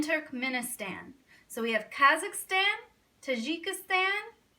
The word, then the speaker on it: Turkmenistan: like crazy names I'll tell you how to pronounce them Kazakhstan Uzbekistan Turkmenistan Tajikistan and Kyrgyzstan all right I'm gonna need